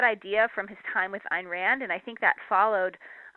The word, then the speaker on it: Ayn Rand: a slight correction the the way she liked people to pronounce her name was called Ein Rand and so Ein Rand was actually a name